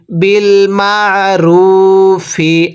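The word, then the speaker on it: بِالْمَعْرُوفِ: আইনটা উচ্চারণের সময় গলার মাঝখানে চাপ দিয়ে পড়তে হবে। পড়ুন, বিল মা, র ওয়াও পেশ রু, এক আলিফ টান দিব, পেশের পরে ওয়াও সাকিন, ফাজের ফি, বিল মারুফি।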